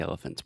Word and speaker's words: elephant: But I think elephant's more common. Okay, so elephant, we have elephant. Elephant. Yeah, so the elephant, the middle sound, that's the schwa.